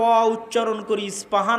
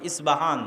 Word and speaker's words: ইস্পাহান: নগরী আছে আমরা প উচ্চারণ করি ইস্পাহান আরবিতে এটা উচ্চারণ হয় না আরবিতে হয় আল আসবাহানি বা উচ্চারণ হয় ইসবাহান বা সেখান থেকে 70